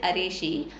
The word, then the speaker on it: Araceae: So which family of the plans is causing Malcophily இஸ் Araceae. Okay, its name it should be pronounced like Araceae, are pollinated by snails.